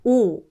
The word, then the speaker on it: 오: You get 오. Because 이응 is silent here, we only hear the vowel sound.